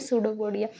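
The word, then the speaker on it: pseudopodia: पे सूडोपोडिया की ओके यहां पे जनरली अगर देखा जाए पी साइलेंट होता है इसको हम प्रोनाउंस करते हैं सूडोपोडिया तो जो साइलेंट होता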